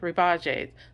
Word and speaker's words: Rebajes: So the artist is, I'm going to mispronounce this name, Rebages. It's Rebajes.